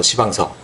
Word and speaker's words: 시방서: 그런 것들은 꼼꼼하게 다 이렇게, 그걸 이제 우리가 시방서라고, 시방서, 발음을 좀 이상하게 너무 세게 하면 안 돼요.